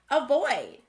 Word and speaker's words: avoid: Avoid. Is there a schwa sound at the beginning or end of the word avoid? Avoid has the schwa sound at the beginning.